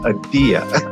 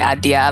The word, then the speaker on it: Adia: I see it I' I'd say idea idea and she corrected me she said It's idea. Well, that's so interesting that you say that because I prefer like the Americanized pronunciation of my name, but my family, like my Nigerian family or other people within the diaspora, they will say Adia. Like there is like a different like tonal inflection you can have with my name.